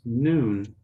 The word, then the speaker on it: noon: So the pronunciation of this is noon. Noon. N-U-N. Noon.